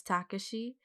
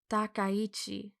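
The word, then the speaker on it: Takeichi: I oh my God I was reading his name wrong this entire time I was just imagining his name was Takashi but it's takichi I was reading his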